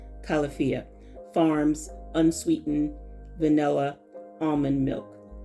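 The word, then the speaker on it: Califia: It's the Calafia, or Calafia, however you want to pronounce it. I pronounce it Calafia.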